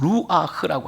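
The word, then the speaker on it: רוח: 단어가 되게 중요한 단어예요 히브리어로 보게 되면 루아흐라고 하는 말이에요 굉장히 센 발음입니다이 루아의인데 이게 무슨 뜻이냐면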